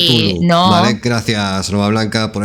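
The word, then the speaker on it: Cthulhu: Se pronuncia Kazulu, ¿no? No, a ver, Nova Blanca dice Tulu.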